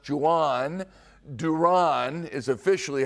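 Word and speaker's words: Jhoan: By the way, you see the spelling of his first name, J H O A N. It is pronounced Jan.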